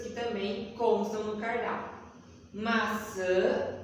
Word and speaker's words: maçã: Como se tivesse um N no final da palavrinha, maçã, né? Você coloca um tio em cima da letrinha A, tá?